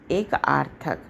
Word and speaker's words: एकार्थक: चलिए एक आर्थक इसमें एक को अलग कर दीजिए और उसमें आर्थक जो है उसमें आ जो है साइलेंट है यानी छिपा हुआ है लेकिन जब हम उच्चारण करेंगे तो हम क्या बोलेंगे एक प्लस आर्थक तब जाके हमको शब्द का प्राप्ति होगी एकार्थक अब एक क्या होता